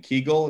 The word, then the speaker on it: kugel: that way there's also is anybody's uh grow up uh saying kegel instead of kugel yeah yeah yes so that's that's also polish and uh ukrainian um